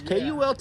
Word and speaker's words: KULT: It's not pronounced Colt. It is not pronounced Colt News, though. It is KULT News. KULT News.